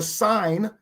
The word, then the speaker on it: sign: Now get this word, sign. Sign. Someone write the word sign for me. S-H, I mean, S-I-G-N, write the word in, sign. S-H, don't write shine in. Silent letters, absolutely.